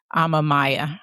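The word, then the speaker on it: Amamiya: And and the other is Shayla Amamaya. I believe that's how you pronounce it.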